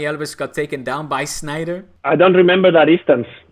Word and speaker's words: Sneijder: saying Schneider in English Wesley Sneijder is not German it's pronounced Schneider not Schneider we're not Germans okay we're Dutch so goes from Schneider